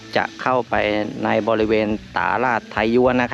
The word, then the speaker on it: ต๋าหลาด: เข้า ไป ใน บริเวณ ตา ราช ไทยยวน นะ ครับ อัน นี้ อ่าน ว่า ตาราช ไทยยวน นะ ครับ ช่าง ป่า ๆ ไม่ ได้ พูด ผิด นะ ครับ ก็ จะ